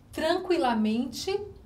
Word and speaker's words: tranquilamente: Tranquilamente, 40, queria e maluquinha. Vamos repetir. Tranquilamente. Tranquilamente. O QU, ele não forma um dígrafo, porque nós conseguimos pronunciar a letra U.